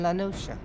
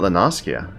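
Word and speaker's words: La Noscea: south tidegate in western lanosha lenosha i've been saying it wrong this entire time it's not lanaskia it's la nosha western lenosha i'm going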